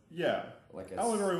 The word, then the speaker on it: allegory: I know it rhymes with Corey.